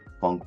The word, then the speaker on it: phonk: uh well I already checked it out this funk album uh from two artists called V I think I pronounced his name right and narv it's a